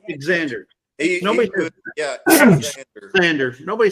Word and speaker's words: Xander: It's pronounced with a Z, XZ, but it's not spelled with a Z.